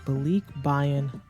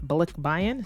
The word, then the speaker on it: balikbayan: So just a quick pronunciation tip, it is not balikbayan. Sometimes non-natives say it pretty quickly like myself, but balikbayan.